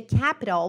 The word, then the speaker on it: capital: Pronúncia americana, o som do T vira R.